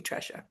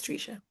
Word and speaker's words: Tresha: And I was going to call you Tresha, but it's Trisha. Yeah, well, and I also know my name on the screen as it appears. It really should be the way it's spelled. You would think it's a short E sound.